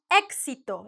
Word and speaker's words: éxito: But really, the proper sound is éxito, like the K plus the S.